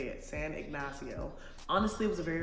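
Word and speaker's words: San Ignacio: San ignasio finally learned how to say it San ignasio honestly it was a very relaxing trip I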